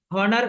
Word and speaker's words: honor: இப்ப நம்ம இத ஹானர் என்றா சொல்லுவோம். எப்படி ப்ரொனவுன்ஸ் பண்றது? ஹானர், நாட் ஹானர். அப்ப எச் வந்துட்டு சைலண்ட்.